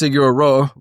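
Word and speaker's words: Sigur Rós: And I got a very big what I've come to find out is it is pronounced Siguro, you know, Sigur feeling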